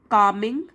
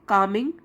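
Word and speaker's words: calming: to music particularly gentle कमिंग L silent है कमिंग and melodious melodious music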